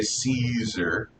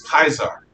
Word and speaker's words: Caesar: caesar they didn't say caesar they had a card see it was kaiser kaiser that's the actual pronunciation that romans would have used uh let's see caius